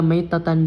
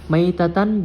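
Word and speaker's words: ميتة: kasrah pada huruf mim jadi membacanya bukan menitan jahiliyah Tan melainkan maitan jahiliyah tanam dari segi arti keduanya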